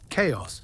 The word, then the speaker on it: chaos: Chaos. Feel this word on your tongue. Chaos. In ancient Greek, it is written house and pronounced chaos. Today it has come into